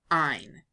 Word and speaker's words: -yne: ending of the name to YN e pronounced ein it reduces the number